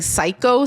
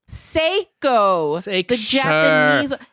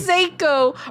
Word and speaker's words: Seiko: i was like oh seiko i don't know if that's how you pronounce it seiko but it's not psycho surely sure whatever i